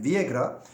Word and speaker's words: Villagra: Rodrigo Viagra Şimdi arkadaşlar villagra diye yazılıyor İspanyolcada çiftliğe yan yana gelince Dün birkaç arkadaşımız da yazdı Bugün de Ben en azından teyit ettirdim çiftliğe yan yana geldiği zaman y diye okunuyor yani Rodrigo Viagra 22